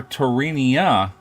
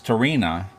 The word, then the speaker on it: Tarina: I called her Tarinia, but it's Tarina, you know, is the way she pronounces it.